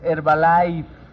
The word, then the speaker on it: Herbalife: Lleva una F al final. Es Herbalife. Como si fueras a decir Francisco.